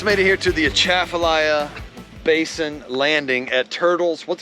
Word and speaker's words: Atchafalaya: We just made it here to the Atchafalaya Basin landing at Turtles. What's it called? Turtles Bay? Turtles something. We're about to go ride an airboat. I like turtles. How do you pronounce that over there? Atchafalaya?